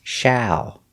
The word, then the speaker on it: shall: common in america but remember the pronunciation ah shall with the word shallow we make the same sound shall shallow shallow is an adjective